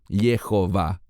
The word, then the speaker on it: Jehová: futuro ha ji yii cualquiera que conozca un poquitín de hebreo sabrá que es imposible pronunciarlo yahwe debe decirse Jehová es muy importante que